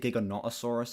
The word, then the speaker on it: Giganotosaurus: You get into the back half of the film where we see, like, practical Dilophosaurus, practical Giganotosaurus as well. They pronounce it Giganotosaurus in this film, by the way.